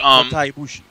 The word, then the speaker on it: Kota Ibushi: Ibushi Kota. Yeah, that guy's awesome. But Kota Ibushi.